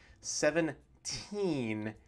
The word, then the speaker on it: seventeen: lot of confusion so the final n sound at the end of the word is the key to pronunciation here 17 and 7 t can